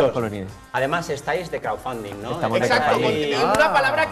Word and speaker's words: crowdfunding: 2 semanas entender que crowdfunding tiene una D. ¿Que tiene una? Una D, entre medio de la palabra. Ah, me costó, claro. Sí, es una palabra difícil. Pero no se pronuncia, Crowdfunding.